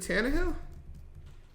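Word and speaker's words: Tannehill: looking at Taj Spears isn't it is it tanah Hill you spell that it's t a n n e h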